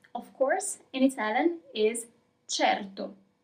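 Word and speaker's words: certo: Of course in Italian is cherto. Cherto.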